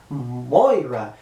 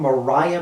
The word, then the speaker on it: Moira: Moira. I keep saying Mariah McTaggart. That's not the correct way to say her name.